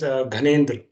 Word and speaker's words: Gyanendra: Its its pronunciation is Ghanendra, not Gyanendra.